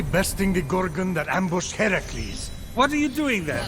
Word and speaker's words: Heracles: So, Fenyx, after boldly besting the Gorgon that ambushed Heracles.